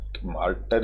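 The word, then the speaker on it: martyr: could die मार्टर र इसको मार्टर लिखा हुआ है लेकिन मार्टर ही बोलते हैं वाई साइलेंट रहता है मार्टर का मतलब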